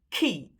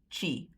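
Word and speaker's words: tjie: You don't pronounce the one spelled with a T as she. It's key like a K.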